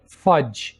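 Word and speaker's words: fudge: यहाँ पर हम डी को साइलेंट रखेंगे, फज।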